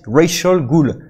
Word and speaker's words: Rachel Gould: des tortues qui dit, il s'appelle Rachel, comme racial, Rachel Gould.